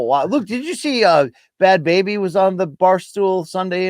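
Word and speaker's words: Bhad Bhabie: Yeah, Bad Baby, Luke. That's how you pronounce the girl who was like, "Catch me outside."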